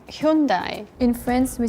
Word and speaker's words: Hyundai: So that's why it never got marketed as Hyundai. It got marketed as yundai to make it sound like Japanese. And it's interesting because Japan doesn't pronounce it that way at all. Pronounces it the Korean way.